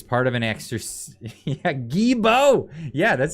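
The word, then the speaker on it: Guilbeault: of an extra yeah gebo yeah that's how you pronounce it that's apparently i don't know it's a french thing yes it looks like willie bald but it's pronounced guibo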